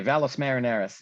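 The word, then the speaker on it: Valles Marineris: correct me on my pronunciation here but uh vals marineris hello yeah valos marineris is the way i'm sure if i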